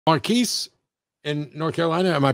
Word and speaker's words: Marquis: marquis in north carolina am i pronouncing that correctly yeah you are pronouncing it correctly oddly enough nobody ever gets it so i just usually accept marcus i i i knew somebody else named marquis